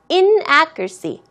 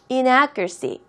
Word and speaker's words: inaccuracy: 발음 잘 하지 않아요 어떻게 발음 하냐면요 묻혀서 발음을 하는 거죠 in accuracy inaccuracy 그렇게 발음하는 거를 습관화 드리세요 둘 다 틀리진 않습니다